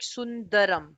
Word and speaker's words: Sundaram: If I don't know, I was able to hear it as Sundharam. Yeah. Just make it Sundaram.